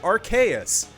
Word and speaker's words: Arceus: Schmugga9, you can also pronounce it Arceus.